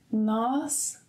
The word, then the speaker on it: nós: So, você, lhe, ele, lhe, ela, lhe, nós, nós, remember, closed sound, nós, nós, vocês, lhes, eles, lhes, elas, lhes.